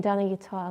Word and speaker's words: Danayutta: I'll just say it again, Danayutta, because often people get it wrong. It's Danayutta and it rhymes with guitar.